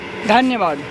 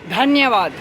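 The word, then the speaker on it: धन्यवाद: Dhanyavad. ¿Cómo? Dhanyavad.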